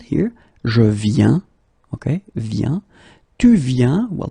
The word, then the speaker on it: viens: Okay, and phonetically it's it's the same form. So you get je viens, okay, tu viens, il vient, elle vient.